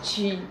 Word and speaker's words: Qi: Ainda não estava preparado para falar do Qi, entre aspas, o Qi, ele botou, pronuncia-se Qi, entre aspas.